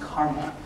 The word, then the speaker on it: CCRMA: and music and Acoustics at ccrma and it's pronounced Karma um and this is one of the two